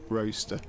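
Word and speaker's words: Rocester: Well, although roaster is spelled R O C E S T E R, it's also pronounced roaster as in toaster.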